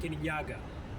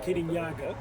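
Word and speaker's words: Kirinyaga: They said, "Oh, this is Mount Kenyaga." They were like, "Kenya?" They're like, "No, Kanyaga."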